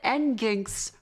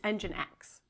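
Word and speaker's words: nginx: I've said end ginks for years now. Are you me? Okay, I apologize to Jonathan Blow for that. He's right on that. He's 100% right on that. That's stupid. Some people say engine 10. That's wrong. That is wrong. That is That would also be very stupid. It's engine X.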